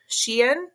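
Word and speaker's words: Shein: and we gave them a short story about shien did I say it right Sheen oh yeah she and the clothing company yes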